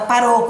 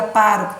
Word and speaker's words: pároco: Toda palavra proparoxítona na língua portuguesa tem acento. Então, o acento na antepenúltima sílaba indica que é proparoxítona. Então, não é paroco, é pároco, tem acento.